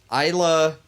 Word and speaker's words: Isla: Yeah, he discovered that on the 15th of November in 1528, and he dubbed it Isla Medanos? Isla. Yeah. You pronounce the S.